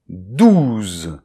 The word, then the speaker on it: douze: So the first is the number - "douze" (twelve). So then followed by [z]; so this [z] here is the voiced - S.